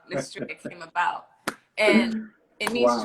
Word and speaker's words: Nestreya: is, and then have the same pronunciation as Estrella. So I put the Nestreya. So that's how the NES from the Nesquik, and then the TREYA is definitely from my first name.